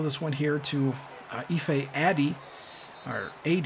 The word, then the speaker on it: Ife Addy: one here to Ife Addy, or AD. I believe that's how I finally looked up how that's pronounced, and it's AD. Kind of like you're just saying AD, but either way, he's had a great season for us.